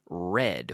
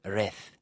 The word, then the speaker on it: read: Okay, so as pronunciation, the pronunciation here is very important because I often hear people say reth, but no, red.